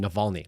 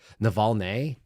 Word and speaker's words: Navalny: She can't even pronounce the name Navalny. There's a Y on the end of it. Navalny?